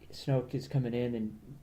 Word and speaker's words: Snoke: Well, nobody knows what Darth Vader became Snoke, other than right?